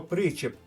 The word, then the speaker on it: причіп: слово премудрість і слово причіп Зверніть увагу на наголос на першому складі в підсумку правильна відповідь